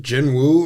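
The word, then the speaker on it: Jinwoo: Is it Jin Wu or what am I supposed to be saying? Cuz I don't want to be saying some JO like Jin. So basically just no W.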